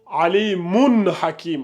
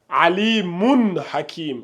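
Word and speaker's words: عليم حكيم: Alimun hakim. On ne fait pas de run, attention. Alimun hakim. On prononce bien mun. Voilà.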